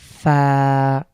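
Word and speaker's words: فاء: করতে পারেন ইনশাআল্লাহ তো এই লেটার নাম হলো ফা এই হরফটি সফট বা পাতলা এবং এই হরফ যখন আমরা উচ্চারণ করব তখন আমাদের আমাদের উপরের যে দুই দাঁতের আমাদের উপরের পার্টির সামনের দুই দাঁতটুকু নিচের ঠোঁটের মাঝখানে স্পর্শ করবে ফা ফা এবং হালকা বাতাস বের হবে খুব পাতলা একটা লেটার বাংলার অনেকটা ফর মতন এরপরে আমরা দেখতে পাচ্ছি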